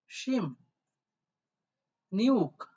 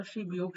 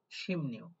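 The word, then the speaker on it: 십육: তাহলে কি উচ্চারণ আসে দেখেন সিম নিউ এইটা হবে আপনাদের মূলত 16 সঠিক উচ্চারণ এবং এইটাই আপনারা লিসেনিং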